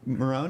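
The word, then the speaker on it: Marohn: But Chuck Marone, is that how you say it?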